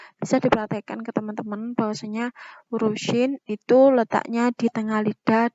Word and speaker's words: shin: Sedangkan pelafalan huruf shin itu sama dengan bunyi huruf SY dalam abjad Indonesia seperti kata syahadat dan syarat gitu.